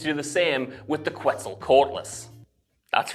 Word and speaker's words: Quetzalcoatlus: her team to do the same with the Quetzalcoatlus. oh come on, dude. Quetzalcoatlus. With the Quetzalcoatlus. Quetzalcoatlus. Quetzalcoatlus. Dude, you're not even trying. It's pronounced Quetzalcoatlus. Quetzalcoatlus.